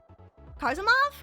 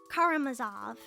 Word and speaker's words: Karamazov: Um, like the brothers, uh, I always say it wrong. I don't know how to really say it. Uh, Karimov, Karimov.